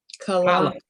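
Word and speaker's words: כלה: And it's not chala, like eating the bread. It's a totally different letter, and it's with a hard k, right?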